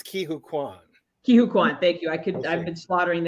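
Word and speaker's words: Ke Huy Quan: And I don't know how to pronounce his name. Can somebody help me with that? I think it's Ki-Hu Kwan. Ki-Hu Kwan, thank you.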